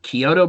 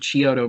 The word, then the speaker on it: Chiodo: spot-on of course the I'm not quite sure how you pronounce their name I've heard Chiodo brothers and I've heard Chiodo brothers so to me it doesn't really matter I'm gonna pronounce it Kyoto brothers the reason I'm gonna pronounce it that way is because MIT Garris pronounces that way and they work